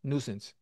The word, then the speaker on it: nuisance: And I know the I is silent because I remember that when I had to do a paper on it. Yes, nuisance.